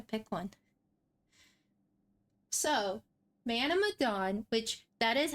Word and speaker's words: Medan: So, Man of Medan, which that is how it's pronounced. When we were planning this, I have heard Man of Medan, Man of, just other words than Medan. It is pronounced Ma-dan.